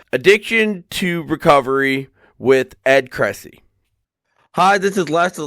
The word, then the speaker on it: Kressy: So it is Ed Cressy. Okay. I wanted to make sure I was pronouncing the name right.